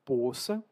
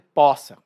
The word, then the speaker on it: poça: Alguns brasileiros vão pronunciar poça, predominantemente no sudeste do Brasil, e outros brasileiros vão dizer poça, mas as duas coisas são a mesma.